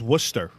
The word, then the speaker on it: Worcester: I'm not going to apologize for pronouncing things correctly when you guys are the Worcester ones. is Worcester.